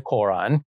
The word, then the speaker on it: Koran: It is cited in the Quran, he spells Quran, K-O-R-A-N, so I pronounce it that way. It is cited in the Quran, the holy book of